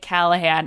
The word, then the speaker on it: Callaghan: I'm like, you say it like Callaghan.